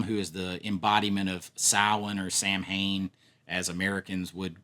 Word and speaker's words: Samhain: It was pronounced Samhain. Most of us grew up saying Samhain because we live in America. We didn't pronounce it that way. But it is Samhain.